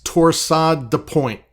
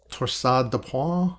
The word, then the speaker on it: Torsades de Pointes: So I've had students in class who took French who say this in a beautiful way, but to the rest of us, it's Torsades de Pointes, right? I think it's pronounced Torsades de Pointes or something like that.